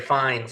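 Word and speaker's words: Fiennes: The movie itself uh has Ray Fines in it. I I think I'm saying it right. It's the most insane pronunciation of the name based on its filling I've ever encountered, but that's besides the point.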